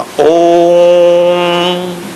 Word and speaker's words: ओम: तो कहा ओम को जब बोले ओ तो 3 गुना ताकत लगा के ऊंचा स्वर उठाना, ओ यहां तक ले जाके फिर मां बोलना ओम, इस तरह से उच्चारण करना।